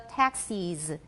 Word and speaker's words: taxis: And then most accents take the vowel in the second syllable of taxis, make it different from that in Texas. They're extremely different for me. Everybody, 很多计程车, taxis. Okay, 德州, Texas. What vowel do I have in the second syllable of Texas? It's a schwa, definitely a schwa.